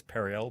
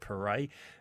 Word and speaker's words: Perret: You're the first one to pronounce Perret correct. That's Perel, but Perret.